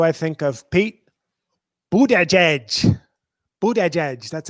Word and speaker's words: Buttigieg: Buttigieg. That's how they say it. They say Buttigieg.